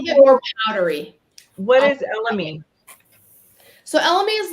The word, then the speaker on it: elemi: So black pepper, elemi, Mhm. how do we pronounce that?